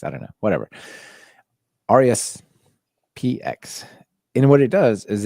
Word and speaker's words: RESPX: So I want to introduce people to RESPX, like response X, probably is the way you pronounce that. I'm not entirely, but it's HTTPX or response X. I don't know, whatever. RESPX.